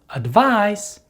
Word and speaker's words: advice: with the verb advise the stress in both of these words falls on the second syllable however the last sound of the noun advice is the s sound and the last sound of the verb advise is the z sound and this brings us